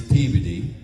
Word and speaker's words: Peabody: Like don't go to Peabody Massachusetts. It's peeved.